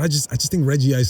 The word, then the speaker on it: Regice: pronounce this this uh Pokemon's name I say Reggie ice I know that it's pronounced Regice right like there's no two eyes but I just I just think Reggie ice sounds like so much cool anyway I go